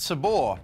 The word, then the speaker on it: Sabre: for Head First with Sabre Bradley, and then get comfortable for How to Get Rich Selling Crack to Kids, or something like that, here on ABC2. Interesting fact, it's actually pronounced Sabor.